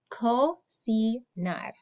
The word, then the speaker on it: cocinar: So our first letter C makes a k sound because it's C-O. The second letter C is followed by an E, an I in Espanol.